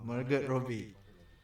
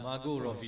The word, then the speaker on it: Margot Robbie: Oh, Margaret Robbie. Margaret Robbie. Yes, that's it. Or Margot Robbie, I think. It's not. Yeah, Margot Robbie.